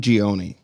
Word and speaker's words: Ghioni: I'm excited to welcome Jordan Ghioni. Hey, how's it going? I'm so surprised you pronounced that right.